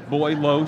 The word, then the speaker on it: Boileau: Boileau, she explained how to pronounce it.